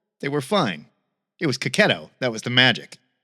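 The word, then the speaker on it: Checchetto: Marco Cacchetto, which we just found out, that's how he pronounces his name, is the secret weapon on Zdarsky's Daredevil and Hickman's Ultimate Spider-Man.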